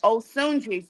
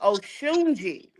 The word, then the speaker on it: Osunji: It's a African name. Osunji from the Oun tribe. Wow. Yeah. The queen O. Yeah. So I am pronouncing it wrong. The Africans told me my name is Ounji. Ounji. Yeah. But my grandmother named me Osuni. So I'mma I'mma stick with that. But So that's your real name?